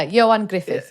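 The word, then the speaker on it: Ioan Gruffudd: your hardest i'll try i even googled the pronunciation of johann gruff griffith yeah yeah is that right yeah johan griffith yeah that's right anyway solomon gainer so spoil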